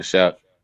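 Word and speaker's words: Shough: Shook Shook Shook. Am I saying it right? Yeah, Tyler Shuck.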